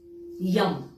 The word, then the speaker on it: यं: है या हार्ट चक्र है इसके लिए आप यम वाई ए एम यम का उच्चारण कर सकते हैं थ्रोट के लिए आप